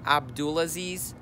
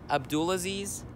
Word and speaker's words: Abdulaziz: pronounce my name it's Abdul Aziz Abdul Aziz it rhymes with a pool of bees a pool of bees Abdul Aziz